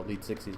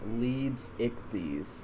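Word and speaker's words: Leedsichthys: all the support on the last video the lead 60s video it's one of my best best received projects to date so i'm really proud of that um sorry it is pronounced leads ichthys i am so sorry for mispronouncing it english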